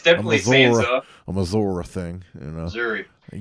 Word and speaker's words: Sansa: Yeah, well, it's spelled Sansa, but Ned Stark I'm fucked up. Ned Stark called her Sansa. Oh, okay, all right. He I put that ER on it. That's part of his accent, so it's a habit.